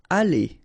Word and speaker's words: aller: Aller, okay, R at the end, when you combine then you pronounce it E, aller.